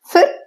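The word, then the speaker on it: फिर: இப்ப இந்த ப்ரொனவுன்சியேஷன் பாருங்க, ஃபிர் அப்படிங்கிறதுக்கு பிஹெச் அப்படிங்கிற ஸ்பெல்லிங் தான் போட்டிருக்கேன். ஆனா நான் ப்ரொனவுன்ஸ் பண்ணும்போது எஃப்ங்கிற சவுண்டை வச்சுதான் ப்ரொனவுன்ஸ் பண்றேன். அந்த மாதிரி தான் ப்ரொனவுன்ஸ் பண்ணணும். ஃபிர் மிலேங்கே.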